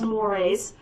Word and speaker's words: mores: looks like the word is morse but it's pronounced mores moires are norms that are uh specific to